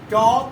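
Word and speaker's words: talk: हम फिर से पढ़ते हैं, चॉक, वॉक एंड चॉक, टॉक, वॉक, टॉक। ठीक हो गया। इस तरह से हम एल को साइलेंट रखेंगे।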